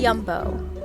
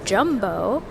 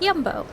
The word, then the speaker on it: Jumbo: okay goodbye this is yumbo which I learned is not in fact pronounced jumbo but yumbo please feel free to